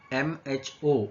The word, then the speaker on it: mho: which is per ohm, which can also be called as MHO. It is pronounced as mho. Okay, MHO, which is ulta of ohm.